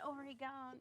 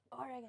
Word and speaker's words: Oregon: It drives me crazy when I hear people pronounce it that way. It's not Oregon, it's Oregon.